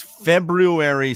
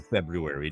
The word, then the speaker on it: February: It is February 6th. I always pronounce the R in February.